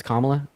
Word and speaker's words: Kamala: thought I to say her name is pronounced um Kamala saying that to me yeah it's it's kamla um no biggie though